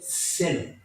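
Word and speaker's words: θέλω: dice, quiero ser limpio, en el griego, si lo pronuncio bien, se dice celo. Igual como telo, celo.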